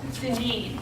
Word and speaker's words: Deneen: Deneen. Deneen. Like lean, mean, Deneen.